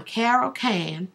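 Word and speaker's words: Carrol Cane: Now once again, I'm Carol K and that's C A R R O L C A N E and E is silent.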